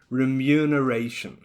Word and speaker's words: remuneration: word is also very tricky listen and repeat remuneration remuneration so it has that kind of Y